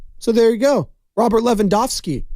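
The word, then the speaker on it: Lewandowski: should have been levo Leva I forgot how they pronounce it the W's are V's over there so I'm doing my best uh here's Klay Thompson talking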